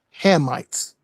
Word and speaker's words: Hamites: The correct way to say it is the the correct way to say it is Hammites.